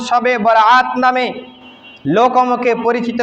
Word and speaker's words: শবে বরাত: রজনী বলা হয় যা আমাদের উপমহাদেশের সবে শুদ্ধ উচ্চারণ শবে বরাত নামে লোকমুখে পরিচিত বা প্রসিদ্ধ শবে বরাত সব